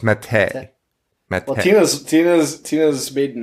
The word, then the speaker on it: Mattei: It's Mattei. Well, Tina's maiden name is spelled the same.